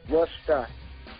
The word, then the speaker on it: Worcester: the road long enough that you call it Worcester instead of Worcester, which is what I still call it, and I get yelled at all the time. Yeah, because I learned the real way how to say it.